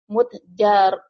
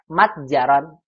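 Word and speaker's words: مَتْجَرًا: Ya, ya Ibrahimu, abuka tajirun kabirun, kam mutjaron. Nah, bukan mutjaron, tapi matjaron. Bukan mutjaron, Bu.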